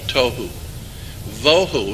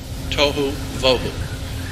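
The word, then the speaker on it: תֹהוּ וָבֹהוּ: spelled in Hebrew but that's the way it's pronounced t o e w toou voo would be v o e w toou voo waste desolation there's only two places in the Bible where toou voo is used and it's and those two places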